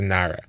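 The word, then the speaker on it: נער: So the Gemara says, because when the Torah says nara here, it spells it without a hey. It just nun ayin reish, and it's pronounced nara.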